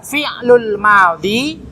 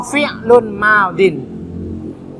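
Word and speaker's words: فعل ماض: Boleh dua cara, fi'lul madhi atau fi'lun madin.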